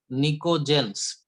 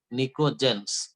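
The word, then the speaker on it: pnictogens: Number 5 निकोजेंस, P silent है, PNICOGEN, निकोजेंस।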